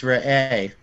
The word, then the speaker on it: Re'eh: How does that go again, Gary? It's re'eh. Re'eh.